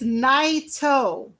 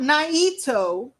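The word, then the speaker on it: Naito: the way um Also let's do some uh pronunciation here so it says it is isi and then it's Nao not Nito you don't put an emphasis on the i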